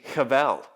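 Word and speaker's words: הבל: And do you know how his name is spelt? It's actually Chavel.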